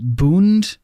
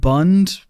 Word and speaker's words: Bund: learned in retrospect that it's actually supposed to be pronounced boond not Bund but I already filmed